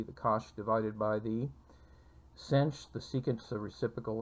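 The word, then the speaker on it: sinh: the hyperbolic sine and that's pronounced cinch and this is the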